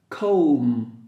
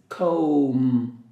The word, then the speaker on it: comb: not correct okay sheet comb remember a letter B is silent you cannot pronounce kombana it's a comb no but sound comb duvet duvet letter T